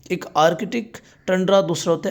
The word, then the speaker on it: tundra: हमारा second last है टेंड्रा ecosystem शुरू करने वाले हैं। वैसे टंड्रा भी पढ़ते हैं और जल्दी-जल्दी से हम टेंड्रा पढ़ते हैं। तो यदि टंड्रा इकोसिस्टम पढ़ते हैं हम फिर हम फिर सही प्रोनाउंस करते हैं।